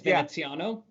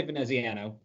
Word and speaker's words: Veneziano: If you want to be really Italian, it's Veneziano. But I just say Veneziano.